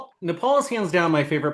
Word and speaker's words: Nepal: Nepal. Oh, Nepal. Um or as as President Trump in his first term referred to it as nipple. He did not he truly pronounced it nipple.